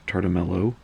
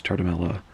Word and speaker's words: Tartamella: by Vinny and Frankie tar Tamela and I have to be careful I occasionally do mispronounce their name as tar D'Mello no it's Charter Mela so if I mispronounce